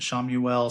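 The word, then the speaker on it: Chamuel: And there's an archangel named I I I pronounce it Shamuel. Some say Shamuel, but Shamuel is the archangel of personal and global peace.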